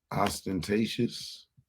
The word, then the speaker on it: ostentatious: Ostentatious. That's how you pronounce it.